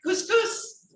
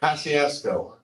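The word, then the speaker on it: Kosciusko: How do you pronounce that? Couscous? No, Kosciuszko.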